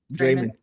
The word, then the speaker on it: Draymond: Organic says she pronounces it the way we say Raymond. Draymond.